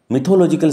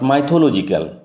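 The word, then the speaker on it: mythological: The story of প্রসারপাইন and Pluto is এ মিথোলজিক্যাল story. উচ্চারণ লক্ষ্য করো, মিথোলজিক্যাল, নট মাইথোলজিক্যাল। মিথ থেকে আসছে মিথোলজিক্যাল story that dates back to the ancient Roman civilisation.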